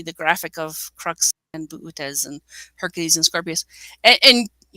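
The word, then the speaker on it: Boötes: In the northern hemisphere, and Dave, I've always heard it called buutes. You want to look for buutes? It's got the umlaut in there, so it's a little ambiguous for the pronunciation. I just say booties.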